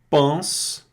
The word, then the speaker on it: pensent: ENT é cortado aqui, não é pronunciado, porque está no verbo aqui, certo? Que é a pronúncia do verbo, terceira pessoa do plural, a gente não pronuncia o ENT.